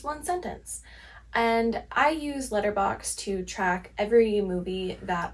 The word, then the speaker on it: Letterboxd: And I use Letterboxd to track every movie that I watch. It's actually pronounced Letterboxd, but you will probably catch me saying Letterboxd until the day I die.